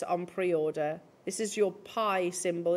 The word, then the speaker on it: pi: pre-order this is your pie symbol it's pronounced pie as opposed to by and historically i can